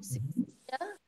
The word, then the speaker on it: Sicilia: Sicilia, that's hard C.